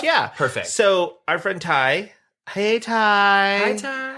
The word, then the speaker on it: Ty: Ty. But pronounced Ty like T.Y.